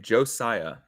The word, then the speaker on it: Josiah: pronounce my first name Josiah with an S not a z Josiah and they picked